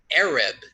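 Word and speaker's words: ערב: her evening here is the word Arab it's pronounced Arab and it means dusk now those of you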